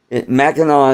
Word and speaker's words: Mackinac: you're from Michigan you should know how to spell it ha and me it's a thing in Michigan everybody knows about Mackinac Mackinaw is an island between the peninsula and said